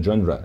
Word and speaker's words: genre: The space essay is a genre. Genre معناها نوع. Genre. خلي بالك من النطق.